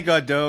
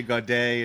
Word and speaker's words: Gaudet: But you can say Godot, you can say Gaudet. It doesn't matter.